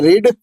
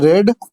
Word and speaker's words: read: तो इसका प्रोनाउंसिएशन होता है रीड, इसका प्रोनाउंसिएशन होता है रेड, और इसका भी प्रोनाउंसिएशन होता है रेड।